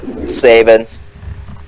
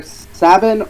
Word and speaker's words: Sabin: I don't know why Sabin I say Sabin because it sounds like satin I don't know I've always thought like if I can interject I've always thought it was either Sabin or or say I've